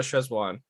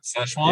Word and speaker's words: Szechuan: I think I'd go with the hot box or the Szechuan. Okay, I can't pronounce that for my life, but Szechuan?